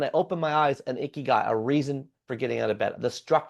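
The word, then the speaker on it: ikigai: And so Dan Butner probably talked about icky guy, which is spelled I K I G- AI, which roughly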